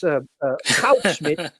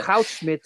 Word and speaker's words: Goudsmit: And so I can with great authority pronounce the names of the two people who introduced that. That's Goudsmit, Yeah. Goudsmit and Ulembeck.